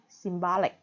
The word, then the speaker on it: symbolic: Hoặc là danh từ symbol nhấn âm 1, nhưng tính từ là symbolic.